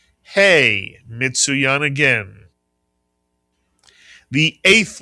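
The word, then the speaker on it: ה: It makes the sound of the English letter H. Mitsuyan. The letter is called hey Mitsuyan.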